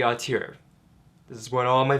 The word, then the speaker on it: auteur: Yes, this is how you say auteur.